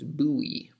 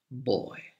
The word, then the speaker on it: buoy: we pronounce them in one of those words like yacht or sword and actually this one